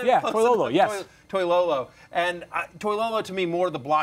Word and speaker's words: Toilolo: Am I saying Close that enough, pronounced? yeah. Close Toilolo, enough. yes. Toilolo.